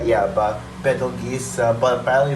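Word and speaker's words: Betelgeuse: u g e u s e yeah but Bal geese but finally it's pronounced Beetle Juice uh like for real um and uh for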